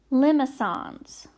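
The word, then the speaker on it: limaçon: we have limo songs that's how you say it limos on that C is a soft C it's like a s so limo songs I wrote it here like how it sounds a limo song and then we have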